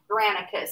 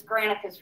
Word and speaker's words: Granicus: Granicus. It's spelled exactly like it sounds, Granicus.